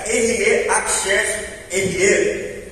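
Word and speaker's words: אהיה אשר אהיה: Na verdade, quando pegamos do hebraico, essa pronúncia fica Erie, Aksher, Erie.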